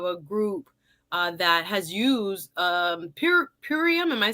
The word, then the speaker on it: Purium: You will see that Miss Annette is a part of a group that has used Purium.